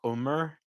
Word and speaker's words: Omar: parents is kind of like more like Omar like more of like a you than an O but mostly just Omar that's kind of my